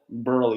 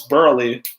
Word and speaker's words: Burley: So it's not Burl, it's Burley, but wild with a silent E.